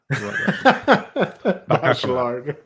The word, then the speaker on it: Bachelard: Bachelard. I mispronounce it all the time.